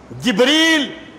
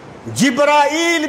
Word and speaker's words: جبریل: حقیقت کیا ہے۔ دیکھیں، ایک لفظ کے کئی تلفظ ہوتے ہیں، جیسے جبریل تلفظ ہے، جبرائیل بھی اسی کا ایک تلفظ ہے، جبرال بھی اسی کا ایک